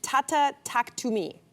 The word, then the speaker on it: Tata Taktumi: So Timbaland launched his first AI-generated artist, and that is Tata Taktumi. Is that correct? Did I say it right? Yep.